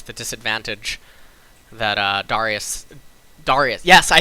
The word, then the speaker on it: Darius: it would neutralize the disadvantage that uh Darius Darius yes I said it I said it right